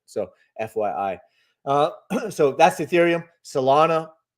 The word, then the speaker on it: Solana: Now we have a pending sell signal again on Solana.